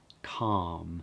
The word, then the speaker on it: calm: Notice that I'm not pronouncing the L, calm.